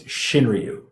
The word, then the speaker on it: Shinryu: to be Grammar Nazis the correct pronunciation is shinryu all right yeah even